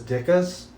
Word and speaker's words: Ditka: And you know what was right in that neighborhood is Dicka's. Yeah, Dicka's. Dicka's. Mike Dicka's. That's how you pronounce it. It's not Ditka. It's Dicka.